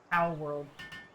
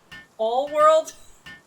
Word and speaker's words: Palworld: Palworld. I don't know how to tell you this, but pal, with an L at the end, is not even pronounced the same as pow.